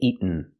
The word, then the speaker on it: eaten: In America, you can say eaten, but normally we don't. We say eaten. Make the stop T and go to the end directly.